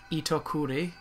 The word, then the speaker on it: Itokuri: And then there's a spider, pronounced Itokuri.